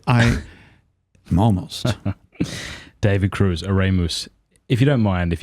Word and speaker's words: Oremus: I don't Because when you say Oremus, I spell it like Exactly. Oremus. Exactly. No, it's not. It's Oremus.